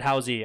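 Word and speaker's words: Howze: is it spelled h-o-w-z-e i'd say howls you say how's or is it house-y alright he's going to tell me in a phonetical it's the second so howell's house is how you pronounce it okay so you were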